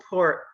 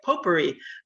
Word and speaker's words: potpourri: it's kind of a poor potpourri that's how you say it potpourri of uh topics uh